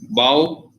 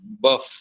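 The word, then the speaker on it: bough: chance you know like if you are not aware of the pronunciation of the word b o u g h right because you may say mao right because if when you compare r-o-u-g-h and b-o-u-g-h it may become rough and buff right when you look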